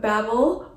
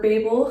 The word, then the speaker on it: Babel: Then I have Babel or Babel, however you want to pronounce it, by RF Kuang.